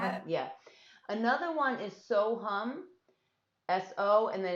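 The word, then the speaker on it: So Ham: yeah another one is so hum s-o and then it's h-a-m but it's pronounced hum and that's an ancient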